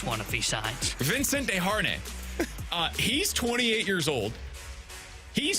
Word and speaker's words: Desharnais: Learn your French Canadian. Well, it says Desharnais in terms of how you pronounce it. You may not want us to clip this one if he signs. Vincent Desharnais.